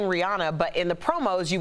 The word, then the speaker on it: Rihanna: It's pronounced Rihanna, and we've all been saying, well, at least I have, Rihanna.